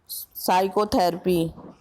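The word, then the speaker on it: psychotherapy: अब हमारा next question है 17, विच letter is silent in the word साइकोथेरेपी?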